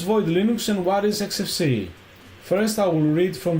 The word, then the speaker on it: Xfce: And then, regarding the XFCE, uh XFCE, pronounced as four individual letters, XFCE, is a free and open source desktop environment for Linux and other Unix-like operating systems.